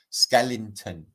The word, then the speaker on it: skeleton: Matt, you say skeleton funny. I don't. That's how it's properly pronounced. Okay, skeleton, like Skeletor.